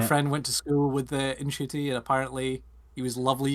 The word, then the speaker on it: Ncuti: He got it wrong, so it's Ncuti. So the N is. I thought the N wasn't pronounced. Oh, okay. The N is pronounced, so it's Ncuti Gatwa.